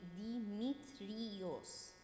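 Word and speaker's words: Ⲇⲏⲙⲏⲧⲣⲓⲟⲥ: So in this situation, the actual Coptic pronunciation would be Dimitrios.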